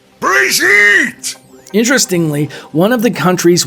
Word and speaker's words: Brigitte: homeland of Germany however the way Reinhardt pronounces it is more in line with a French origin Bridget Bridget interestingly one of the